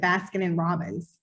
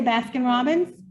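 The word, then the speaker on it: Baskin-Robbins: baskin and robin's but i have always pronounced it baskin and robbins i don't know do you say baskin and robin's no you just say baskin robbins really something's wrong with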